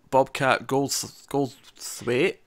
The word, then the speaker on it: Goldthwait: It cuts 15 years later, and we see Bobcat Goldthwait. Is that how you pronounce his name?